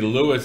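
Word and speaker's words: LUIS: How's Lewis spelled? L-O-U-I-S. Language, okay. Understanding, and Intelligence Service. Okay, it's not some guy named Lewis.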